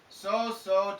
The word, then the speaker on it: sow: However, sow, the verb, is not the same as sow, the noun. Sow, the pronunciation is different. So this is here more of an A sound, right? That is a female pig.